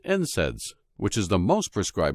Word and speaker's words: NSAIDs: safe compared to non-steroidal anti-inflammatory drugs or NSAIDs pronounced NSAIDs which is the most prescribed medication for treating